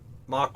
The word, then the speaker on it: Mach: you know thinking about Mach One you say mac one I say Mach One it's the European North American potato potato sort of pronunciation I think but um